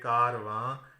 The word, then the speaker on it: کارواں: تھے اس لفظ میں، لیکن جب نون غنہ بنایا تو یہ کارواں، کارواں، یہ 3 آوازیں رہ گئیں، 3 ہجے رہ گئے. تو اس سے پتہ یہ چلا کہ نون غنہ جو ہے یہ الگ سے اپنی آواز نہیں دیتا، اس وجہ سے یہ